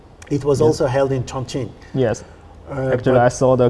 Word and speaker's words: Chongqing: How is my pronunciation of Chongqing now? Is it better? Yes, it's the really correct.